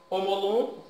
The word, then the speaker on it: Omolum: Uma das obrigações que me chama muito a atenção é a obrigação para Emolum, ou Omolum, não sei como que se pronuncia. Omolum? É, Omolum.